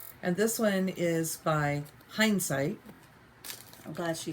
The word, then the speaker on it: Hindsight: this one is by hindsight I'm glad she said it I always pronounce it incorrectly and call it Hines it so it's birds and